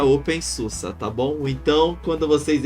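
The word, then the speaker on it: openSUSE: pessoal chama pelo nome errado que é o open Suzi que na verdade se pronuncia Open Susa Tá bom então quando vocês irem escrito Suzi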